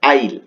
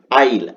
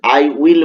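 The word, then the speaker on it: I'll: আইল। এর উচ্চারণটা কি হবে? আইল। আবারো বলছি আইল। আই উইল বলবে না। এখানে বলবে আইল।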